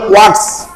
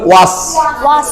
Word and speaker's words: watch: WATCH, আমরা যদি টি কে ধরে উচ্চারণ করি তাহলে উচ্চারণ হবে ওয়াটস, কিন্তু তা তো হবে না, আমাদের উচ্চারণ হবে ওয়াস।